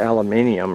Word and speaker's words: aluminum: a scrap piece of aluminum. Everybody makes fun of the way I pronounce it. How you pronounce it? Well, I know a lot of people outside America say aluminium or aluminium, something.